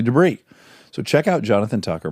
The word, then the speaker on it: Debris: debris spelled debris famously I always say debris but it's actually debris so check out Jonathan